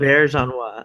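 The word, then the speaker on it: Auberjonois: I can't even pronounce his name. It's Aubergenois.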